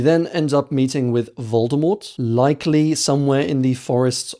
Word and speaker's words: Voldemort: Voldemort had originally planned for the name to be pronounced Voldemort with a silent T.